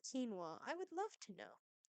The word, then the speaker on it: quinoa: let's go kinoa Burger why is it spelled like that and pronounced quinoa I would love to